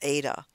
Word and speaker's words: eta: is another greek letter it's actually kind of like the greek letter h but it's become pronounced more like a vowel eta but in fact eta